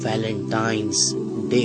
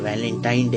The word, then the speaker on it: Valentine's Day: नाम पर गौर करें इसे जो आम कहा जाता है यह वैलेंटाइन डे है लेकिन हकीकत में जो इसका प्रोनाउंस एशन है वह है वैलेंटाइंस डे य एक वैलेंटाइन वाला